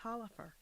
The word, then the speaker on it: Taliaferro: Taliaferro? That's what I've heard people say, Taliaferro, and I was going to say that, but someone said, "Oh, that's pronounced Talifer."